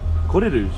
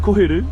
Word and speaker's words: koheru: Kohirus. Is that how you say it? Koheru. Kohirus. What did I say? Koheru.